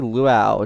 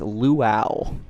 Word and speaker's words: Luau: It's luau. I get this question a lot. Or not a lot. I get a lot of people trying to correct me, saying that it's lua u, and then I send them the screenshots, the links of the pronunciation, and then they don't respond.